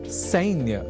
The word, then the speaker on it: सैन्य: एक शब्द है सैन्य या सैन्यम, जिसका प्रयोग सैन्य या सैन्यम इस रूप में ही करना चाहिए, न कि सैन्य या सैन्यम इस रूप में।